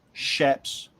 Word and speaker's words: chaps: um just off the bat it's they're actually pronounced shapes it's spelled chaps but pronounced shapes it's a